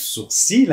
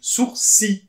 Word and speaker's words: sourcil: peut voir par exemple le mot sourcil moi je le prononce sourcil hein c'est-à-dire cette partie